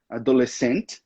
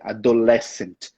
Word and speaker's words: adolescent: A gente só tem que tomar cuidado com a pronúncia, que não é adolescent, é adolescent.